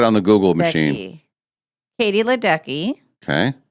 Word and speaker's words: Ledecky: Oh, Ledecker or what? Is it? Yeah, Ledecky. Oh, something Ledecky. Okay. She for the female, I think that Molly's going to check it on the Google machine. Katie Ledecky.